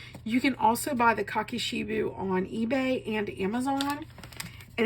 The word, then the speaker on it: kakishibu: at the moment but if you look up cocki sheu which which is spelled um k a k i s h i bu U you will find people using this you can also buy the cocki shiu on eBay and Amazon and if you are